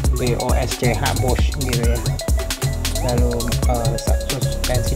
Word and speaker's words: Bosch: Radiatornya tuh memanjang, terus ada kayak modul ABS dari Bosch ya, mana bacanya, BOSCH Bosch gitu ya.